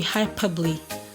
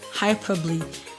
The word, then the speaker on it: hyperbole: make a sound okay we have at least two sounds for the ending part of the e that's what i want to add to this lesson examples are words that have the e e examples we have recipe recipe i have heard people pronounce this red as recycled okay that either is pronounced okay so you rather say recipe i have next one to be hyperbole hyperbole next one is epitome epitome okay another sound of